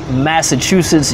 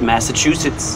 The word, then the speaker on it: Massachusetts: I pronounce this as Massachusetts. You lived in the state. How do you pronounce it? That's it, Massachusetts. Massachusetts. Let's just confirm one time with the dictionary. Dictionary says Massachusetts.